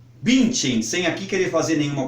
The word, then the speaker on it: Bündchen: é só uma observação é claro que nosso sempre vamos respeitar os nomes estrangeiros como eles são pronunciados é o caso por exemplo de Gisele Bündchen Todos nós sabemos que a grande modelo brasileira que atualmente mora nos Estados Unidos tem o nome de Gisele bint em sem aqui queria fazer